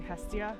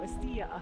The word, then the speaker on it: Hestia: If we want to use the English pronunciation, we could say Hestia. And then if we want to go Greek on that, we go Estia.